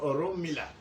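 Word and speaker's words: Orunmila: Our people cannot pronounce the Oron Mila very well. They say Lumina, Lumina, Lumina.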